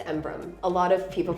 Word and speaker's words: Embrun: It's Embrum. A lot of people pronounce it that way.